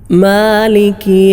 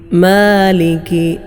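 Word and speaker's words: مالك: സൂറത്തുൽ ഫാത്തിഹയിലെ നാലാമത്തെ ആയത്ത് മാലിക്കി യൗമിദ്ദീൻ മാലിക്കി മാലിക്കി മാലിക് ഇവിടെ ചിലരൊക്കെ മാലിക് മാ എന്ന് മേ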